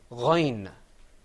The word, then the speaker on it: غين: letter coming up on your screen is the ghain sound. And you see the difference between the ghain and the ayn is that the ghain has a dot on top of it. So let's say ghain.